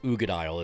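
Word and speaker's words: Uigeadail: i l and it's ugad is how you say it but this is a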